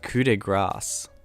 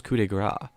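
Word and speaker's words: coup de grâce: It's pronounced coup de grace. Coup de grace. I thought it was coup de grace.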